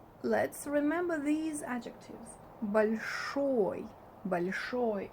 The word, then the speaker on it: большой: Большой, it's pronounced like a, not большой, but большой, because it's not under emphasis, as I had told you before.